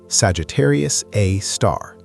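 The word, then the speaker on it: Sagittarius A*: Scientists have given it a name Sagittarius A or S G A R A for short pronounced Sagittarius A star.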